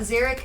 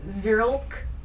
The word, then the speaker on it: Zerlk: It's not Xeric, it's Zerlk. Oh no, I've been mentally saying your name wrong this entire time.